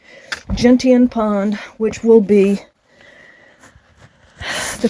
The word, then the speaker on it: Gentian: We also had our lunch there, and now I have I think it was like 5.2 or 5.7 to Gentian Pond is the correct pronunciation, I think. Gentian Pond, which will be the completion of my hike.